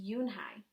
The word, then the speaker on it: Eunhee: Yes, it's pronounced Yoon-hai.